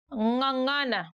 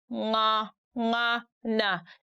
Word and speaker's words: Ng'ang'ana: Ng'ang'ana. Can you try saying it out? Ng'ang'ana. Do you realize that you stick your tongue at the back upper part of your mouth and then the voice comes through your nose?